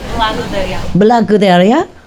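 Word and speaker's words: благодаря: Blagodaria. Blagodaria.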